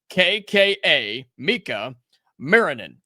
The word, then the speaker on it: Miikka Muurinen: this kid's name up, it's not spelled the way you think it is, so just hear me out here. I'm going to spell it for you. Miikka, Miikka Muurinen. Muurinen. Miikka Muurinen. Miikka Muurinen. 2 I's, 2 K's, 2 U's.